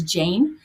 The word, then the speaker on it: Jain: And then he was doing an interview with Naveen, I think it's Jain, is how you say his last name.